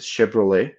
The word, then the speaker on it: Chevrolet: know, Chevys or Chevrolets, um, how do you pronounce that in English? A Chevrolet.